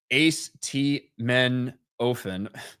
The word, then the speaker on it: acetaminophen: Beardo, Ace T Men Ofen. Will, I got nothing. Yeah, that's how you pronounce acetaminophen. That's right.